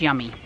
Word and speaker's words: Yumi: It's pronounced Yummy.